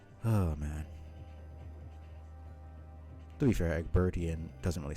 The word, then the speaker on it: Egbertian: The teen Egbertian is soft like shh.